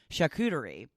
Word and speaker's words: charcuterie: a proper pronunciation and I did look it up today and I'm pretty sure I am properly pronounciating shekhu turi I have to practice